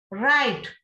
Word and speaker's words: write: Write, W and E.